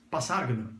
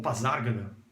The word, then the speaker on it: Pasárgada: Passárgada, ou Pasárgada, depende da pronúncia, cada um pronuncia de um jeito, é o nome de